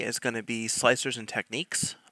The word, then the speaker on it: Slic3r: is going to be slicers and techniques it's just proof slicer slic3r is tom 3ds pronounces it and kira and